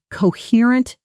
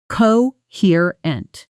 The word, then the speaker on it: coherent: After 3 cups of coffee, he finally gave a coherent explanation of what actually happened at the meeting. Notice the stress falls heavily on the 2nd syllable, coherent. Say just that word, isolating the stress.